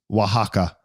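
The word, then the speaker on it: Oaxaca: yeah Waka AR wahaka that's a good one to learn how to pronounce pronounce wahaka Waka yeah oh yeah man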